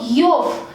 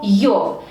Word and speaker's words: ёв: En este caso tendríamos que añadir sufijo yov para formar adjetivo posesivo. Se escribe como yo y v, se pronuncia como yov, más terminación correspondiente.